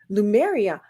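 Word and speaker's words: Lemuria: like venerate their dead in this holiday called Lumeria. Lumeria, right? Did I say it right? That's correct. Correct me if I say anything wrong. No, you got it. Lumeria.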